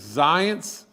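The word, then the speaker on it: Zients: is jeff and and i think you pronounce his last name as zions and everything he seemed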